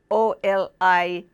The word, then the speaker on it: Olivye: Olivye salad is what it's called, and they, as phonetically spelled, is Oliveh. It's a French word, and I think the